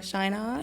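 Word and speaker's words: Scheinert: Tell me if I'm pronouncing this wrong, but it's Daniel Scheinhardt.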